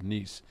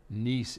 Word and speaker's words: Nice: Oto in nce France which is very close to my oldest son law's house in mujan which is a lovely town about 20 minutes outside of nce they're on the Mediterranean and you know if